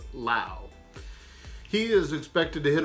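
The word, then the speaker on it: Lowe: brace is brandon lau not to be confused with low l-o-w-e but pronounce lao he is expected to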